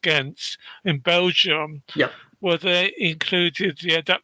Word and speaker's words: Ghent: And a really good example was also at the World Championships, I think it's pronounced Ghent, in Belgium, where they included the adaptive athletes on their version of the 100-meter course with the various obstacles.